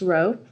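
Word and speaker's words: rho: Mass over volume and this is pronounced row and then lowercase V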